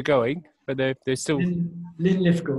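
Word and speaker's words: Linlithgow: but they they're still ly litho that's how you pronounce it Scottish yes sorry I probably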